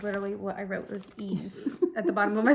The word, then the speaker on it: Ys: So next we have, it is spelled as Y-S. So I had asked Jennifer, I was like, what is this? This is Y's? She goes, it's E's.